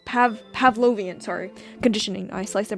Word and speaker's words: Pavlovian: That is how you pronounce Pavlovian, sorry.